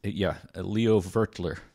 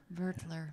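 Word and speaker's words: Leo Wöteler: get in touch and make sure that we're pronouncing his name correctly. Yeah. And he did. It's Leo Vertler. Vertler. Yeah. It's W-O with an umlaut, T-E-L-E-R. Leo Vertler.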